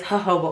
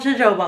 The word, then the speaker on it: jojoba: day, and that is jojoba oil. It's a little hard to pronounce. I used to think it was called jojoba oil or jojoba oil, but if you get